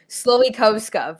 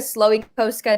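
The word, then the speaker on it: Slowikowska: i'll try it um sloikovska sloey posca it's very polish um that's the the english pronunciation of my last name now we a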